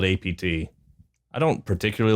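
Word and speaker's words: APT.: Ros with Bruno Mars Apeta or AP as I sometimes hear it called on the TV. Yeah, I' I I'm glad to know how it's pronounced now. I'm going to call it AP.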